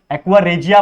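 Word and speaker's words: aqua regia: the reagent which डिजॉल्ड्रिंग या एक्वा रेजिया बोलते हैं रिजिया बोलते हैं जो आपको बोलना है बोल लो लेकिन स्पेलिंग इज इंपोर्टेंट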